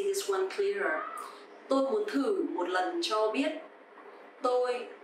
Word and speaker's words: thử: Okay, so here the letter TH, and you will pronounce th. Th. And here the tone mark is dấu hỏi, so it will be thử. Thử is to try, and thử thách is challenge.